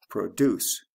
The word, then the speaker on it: produce: and also sound changes produce produce and product which is an object so produce as a long o product has a short o and then of course